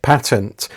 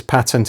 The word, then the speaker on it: patent: The word patent is more commonly pronounced, at least in other contexts, as patent in the UK, and many British people consider the pronunciation patent to be an Americanism. In truth, both pronunciations are quite correct. The term letters patent derives from the Latin litterae patentes, and the pronunciation patent is true to the Latin.